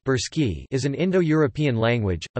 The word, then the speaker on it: Bulgarian: Bulgarians listen Bulgarian Blonsky Bal Gorsky pronounced burski is an indo-european language a member of the